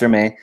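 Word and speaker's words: Hermès: Okay, it's pronounced Hermes. Thanks, Karen. Pronounced Hermes.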